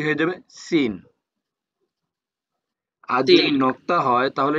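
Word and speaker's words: س: যখন পাঞ্চার হয়ে যায় সাইকেলের চাকা যখন পাঞ্চার হয়ে যায় টিউব যখন লিক হয়ে যায় তখন একটা সাউন্ড করে কিভাবে হ্যাঁ এরকম একটা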